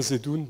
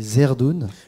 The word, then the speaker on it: Zerdoun: Rabbin Zedoun, bonjour. Bonjour, je me permets de rectifier quelque chose. Alors c'est Zerdoun.